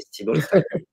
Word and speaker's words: Stibal: Alors la fondatrice, donc c'est une femme, qui s'appelle, Diana Stibal, ou Stibal, je sais pas comment on prononce, Mmh. donc c'est Stibal, Stibal, C'est compréhensible.